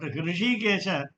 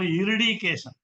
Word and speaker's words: Hrishikesha: Every name is special, but Hrishikesha mostly mispronounced. In Tamil, it is called Iridikesha. Alvar says Iridikesha. Why, I don't know. The totally changed spelling and pronunciation.